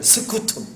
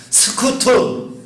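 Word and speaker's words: scutum: 스쿠툼. 한번 따라서 하겠습니다. 스쿠툼.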